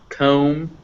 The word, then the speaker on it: comb: So yeah, so climb, climbing, comb, combing, numb, numbing. It's always pronounced just if it's after an M.